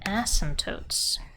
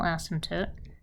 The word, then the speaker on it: asymptote: close to zero add asymptotes to the graph what what is an asymptote it's fun to spell it's got a lot of consonants there in the middle a silent p it's craziness an asymptote